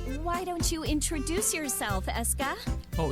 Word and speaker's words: Escha: Now, why don't you introduce yourself, Escha? Oh, it's Oh, it's Escha. Escha. So it's Eschology. I'm... Now, She's how will we stuttering. know the pronunciation of the last name?